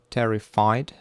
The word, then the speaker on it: terrified: And number ten, terrified, terrified. Terrified, so terrified, the first syllable is stressed.